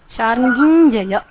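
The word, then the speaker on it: शार्ङ्गिञ्जय: Sharangin, the nakara becomes ñ. Sharangin jaya.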